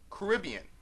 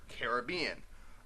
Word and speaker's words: Caribbean: For example, Caribbean or Caribbean. Generally when I'm talking about it, I'm going to say Caribbean. But when I'm talking about the Disney ride / movie franchise, it's Caribbean.